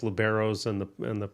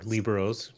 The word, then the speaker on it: liberos: They seem to have the best liberos or liberos, depending on your pronunciation, around.